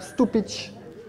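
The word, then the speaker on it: Stupice: Variété de tomate Stupich. Ça s'écrit Stupis. S-T-U-P-I-C-E.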